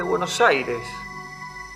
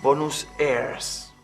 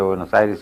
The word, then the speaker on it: Buenos Aires: la época, junto con el extraño nombre de Buenos Aires, que ellos pronunciaban Bonus Aires.